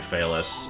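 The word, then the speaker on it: Phelous: know how to find fais uh since the spelling of the name is not obvious from the way it's pronounced is p h e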